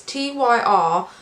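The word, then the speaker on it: Týr: The next god I think is pronounced Tyr. It's Tyr, but the Y has an accent over it.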